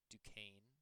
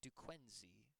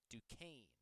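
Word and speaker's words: Duquesne: Johnny Mill went to Dukane University. Yes. Does not look like Dukane. That is how you That's how you say it. It's not Dquenzy Dquz. Dukane.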